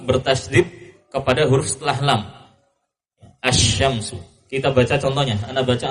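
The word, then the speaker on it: الشمس: Namun jika alif lam itu masuk pada huruf asy-syamsiyah, sebagaimana penamaannya asy-syamsiyah, pengucapannya seperti asy-syams, lamnya tidak dibaca. Ya, langsung melebur kepada huruf setelah lam, masuk bertasydid kepada huruf setelah lam. Asy-syamsu.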